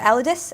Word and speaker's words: Elidas: Yeah, so I mean, you can pronounce it any way you want. We've had a lot of different pronunciations, but I think it's the Elidas, Elidas.